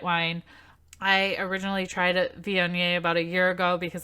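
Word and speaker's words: Viognier: I am drinking a Vionnet which I did have to Google how to say that because it's spelled VI OG and i ER but very explicitly said on the internet Z on yay so that's how I'm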